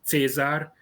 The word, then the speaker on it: Caesar: because there is a there is a normal traditional pronunciation in hungary of latin language where we pronounce caesar as cesar cicero as tzitzero or jurasses horatios or germania as germania so we have a